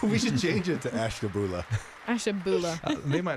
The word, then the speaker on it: Ashtabula: Sharon in Ashtabula. Debbie in Homeworth. Barbara in Akron. Wait, how do you say that Yeah. one city that starts with an Oh, A? what? You said- Ashtabula?